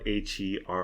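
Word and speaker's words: Herre: 2002 is a well it's spelled h e r r e but I'll pronounce it how I'll pronounce it like that is hot and her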